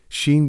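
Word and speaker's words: Sean: Sheen, spelled sea iron and pronounced Kan. It's a very old Irish name that means ancient or enduring in mythology. Sheen was the son-in-law of the high king of Ireland, Brian Buru.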